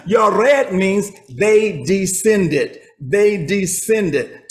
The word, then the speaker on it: Yared: Okay, it tells you, and Mahalalel lived 65 years, and he begot Yared. Yared. Okay, you may pronounce it Jared, but there's no J's.